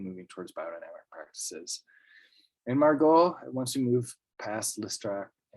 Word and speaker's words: Margaux: m-a-r-g-o-t to the coming of margaux the way that's spelled m-a-r-g-u-8 j-m-a-r-g-a-u-x because she loved the wines of margot so much i guess it's one of the